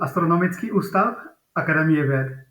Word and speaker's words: Astronomický ústav Akademie věd: Yeah, so in Czech, it's called Astronomický ústav Akademie věd.